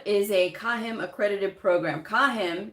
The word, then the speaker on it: CAHIM: never remember what is a cahim accredited program kahim c a h i i m stands for